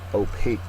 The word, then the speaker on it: opaque: next word is opaque opaque is how you pronounce it it's an adjective second syllable is accented it is not let